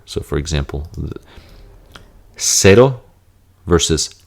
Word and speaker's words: cero: It's just pronounced like an S. Versus differentiation, there will be a lisp here. So for example, cero versus cero.